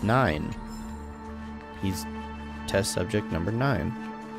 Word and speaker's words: IX: by a thermic weapon some people pronounce uh have been calling him X just because it's iix but I I'm pretty sure it's nine it it it makes